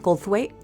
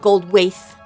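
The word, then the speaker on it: Goldthwait: So then we have um Bobcat Goldweight who I always for years and years have always said his name wrong. I know. Me too. I said gold waif.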